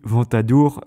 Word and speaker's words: Ventadour: One of the best known was Ebles II who was a singer and poet Because yes Ventadour rhymes with troubadour!